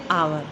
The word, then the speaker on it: hour: हावर होता है HOUR, लेकिन पढ़ते क्या है? आवर।